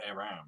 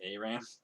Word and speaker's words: Aram: of Aram, right, or Aram. I know I pronounce it Aram because I guess I'm just too used to saying it that way because that's how everybody says it in League of Legends. But the king, Aram had